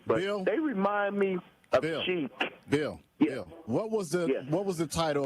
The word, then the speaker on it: Chic: But like I said, with Chic, yeah, it's like it's spelled chick.